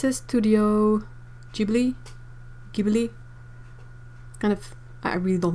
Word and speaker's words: Ghibli: Otto is saying that it's pronounced Ghibli in Japanese.